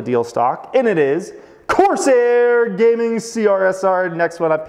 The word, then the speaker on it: Corsair: This one rhymes with Broair, Malair, Prefer, Jamair. Can you guess it? It is a steal a deal stock, and it is Corsair Gaming CRSR, next one